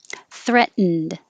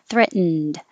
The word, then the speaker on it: threatened: scary scary movie threatened so just without the ed for past tense i would say threaten and then the d you don't make any other sound between the n and the d so it is kind of threatened but i'm not going to hear the d unless there's a vowel after it if i said um